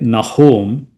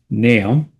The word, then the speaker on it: Nahum: So naam naam one some people say nahome that's also fine uh the Hebrew pronunciation is completely different. Uh most people would pronounce nam or nam. So the dictionary is telling me it should be pronounced nam.